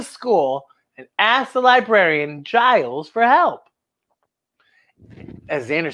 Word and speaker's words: Giles: So the next day, we went to school and asked the librarian, Giles, for help. As Xander says, it rhymes with Miles. And then Willow says, it's pronounced Giles, but it's spelled with a G.